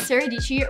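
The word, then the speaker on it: Sara Dietschy: that i've used my name is saradici rhymes with peachy and i am a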